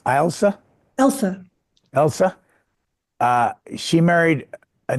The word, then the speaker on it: Elsa: His daughter, is it pronounced Elsa? Elsa.